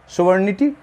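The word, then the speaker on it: sovereignty: जी का उच्चारण लुप्त होता है, सोवरेनिटी, ठीक है ना।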